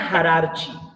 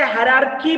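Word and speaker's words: hierarchy: Okay, so taxonomic categories are also called, इसको और एक नाम है, याद रखो, टैक्सोनॉमिक हायरार्ची। इसे हायरार्की भी कहा जाता, दोनों भी प्रोनाउंसिएशन सही है, इसको हायरार्ची बोलो या हायरार्की बोलो, दोनों भी प्रोनाउंसिएशन सही है, ठीक है?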